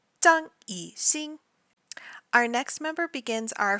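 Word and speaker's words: 张艺兴: So the way that I say his name in Chinese is the way that the characters should be pronounced.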